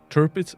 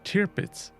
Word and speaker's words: Tirpitz: pronunciations wrong for example terpis is pronounced pronounced as terpits not tear pits i i guilty as